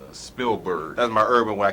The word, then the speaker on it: Spielberg: Because she likes Steelbird and all that. How you say his name? Spielberg.